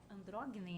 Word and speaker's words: Androgynem: Eu achei o tema interessantíssimo, que é andrógine, é assim que fala? Uma Andrógine. pronúncia reconstituída clássica, sim. Andrógine.